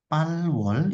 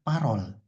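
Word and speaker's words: 팔월: Palwol itu dibacanya parol.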